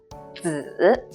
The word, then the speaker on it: 子: When it's used as with the meaning that's related to son or child, it's the 3rd tone down and up. 子, 子, as in 子女, 子女.